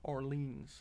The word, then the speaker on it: Orleans: It is in 1429, who led the final charge during the Siege of Orleans, or Orleans, if you prefer that pronunciation.